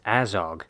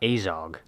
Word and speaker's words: Azog: metal in his flesh where are you getting this pronunciation from his name is azog not azog is there no way